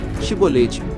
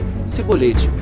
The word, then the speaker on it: Shibolete: Então lhe diziam: dize, pois, Shibolete. Porém ele dizia: Sibolete, porque não o podia pronunciar bem.